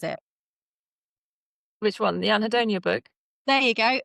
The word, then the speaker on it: Anhedonia: into your recent book, and I can never pronounce it. Which one? The Anhedonia book? There you go, Anadonia.